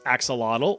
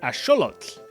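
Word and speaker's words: axolotl: You've probably been saying this as axelottle or aote for my Spanish speakers, but it actually comes from the Nat language. So, it would be correctly pronounced as asholot.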